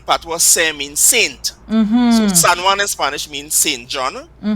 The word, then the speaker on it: San Juan: Even the town, another one I always tell my students and French students too, the town of San Juan. It is pronounced that way because of Patois.